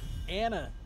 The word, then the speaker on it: Ana: So we're not going to see that, but we are going to see an Ana this game, or Ana, I think is actually supposed to be pronounced.